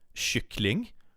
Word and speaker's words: kyckling: Swedish is notorious for the love of sh and sh sound. So yeah, that is like one of the most difficult parts with pronouncing it. Kött, kyckling. Oh, sh. It's like, imagine you're hushing someone.